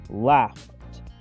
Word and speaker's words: laughed: Fíjense que el verbo to laugh está escrito con una GH, pero suena como una F, esa GH, por lo que se pronuncia laughed, laughed.